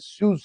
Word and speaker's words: Suez: Called the सुएज canal, जिसको हम दो देसी में पढ़ते हैं सुएज canal. The right pronunciation is सुएज canal, SUEZ, सुएज canal.